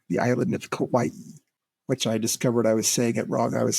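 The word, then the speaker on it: Kauai: Loui we stayed on Kawaii the island of kawaii which I discovered I was saying it wrong I was saying it Kawai it's Kawaii really I would not have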